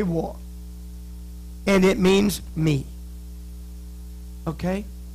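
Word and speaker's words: 我: And this is pronounced war. Everybody say war.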